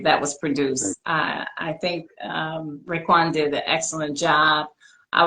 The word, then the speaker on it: Raekwon: And it's going to be premiering, and it's produced by a Wu-Tang member, a gentleman by the name of Raekwon. Did I pronounce his name correctly?